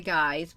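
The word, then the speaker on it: Gy: which are called the guys which is spelled g y but pronounced guy that's the name for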